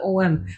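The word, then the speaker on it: ॐ: When Om is actually, everyone spells it OM, but it's also AUM. You hear the difference from Om? You can hear the difference between the sound and the vibration.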